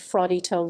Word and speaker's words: Fraudito: as a result varletta was nicknamed fraudito little fraud which rhymes with his second name ardito fled once again to